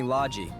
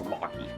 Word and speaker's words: Logy: People usually call me Logy, and I think I've grown to like that name. Of course. Of course I say it wrong. I use the pronunciation I think's gonna work. It's Locky.